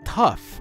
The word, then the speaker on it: tough: is now pronounced o but if you remove the first H then you get tough which is T ough and what in this case the ough ending is pronounced off so in three words